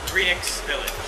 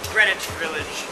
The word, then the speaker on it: Greenix Village: find a place called greenix Village not Greenwich Village greenix Village and when you hear